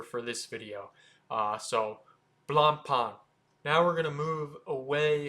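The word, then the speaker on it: Blancpain: company Blan Pon and you try your best not to pronounce the C in the middle if you're pronouncing It the French way Balan Pon blond Pon not Blan Pon blond Pon and it's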